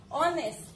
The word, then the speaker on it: honest: but if we speak when we pronounce the word what is the pronunciation honest o so which sound is coming oh so there are some